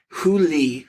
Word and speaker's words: Hu Li: A poor but talented high school boy named Hu Li, whose name is pronounced very similar to the term for fox in Chinese.